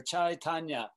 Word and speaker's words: Chaitanya: Tanya, chai like tea, chai. And Tanya like a ballerina or an ice skater, figure skater, chai Tanya, right?